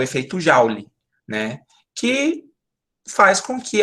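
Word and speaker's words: Joule: da transformação da eletricidade em calor o efeito jaule muito bem Marcelo não é assim que se escreve Jauri né mas é ele mesmo né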